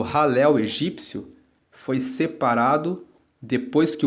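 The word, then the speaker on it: Hallel: encontra o conjunto dos Salmos que formam o ralel egípcio ralel se escreve h a l l e l e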